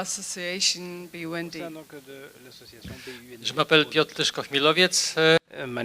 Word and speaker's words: Tyszko-Chmielowiec: Tyszko-Chmielowiec. So you heard the pronunciation right.